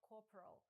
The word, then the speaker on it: Corporal: У вимові слова Corporal 3 склади, але у другому та третьому голосні стоять в ненаголошеній позиції, тому вимовляються як ненаголошене Corporal.